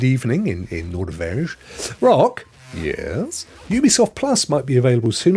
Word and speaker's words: Ubisoft: We were talking about Ubisoft. We finally got, didn't we? We got back along the fact that as much as I desperately want to say Ubisoft, actually they pronounce it Ubisoft.